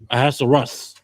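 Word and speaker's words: Ahasuerus: How do you pronounce his name? Yurasser. Aassaras. Aassarus.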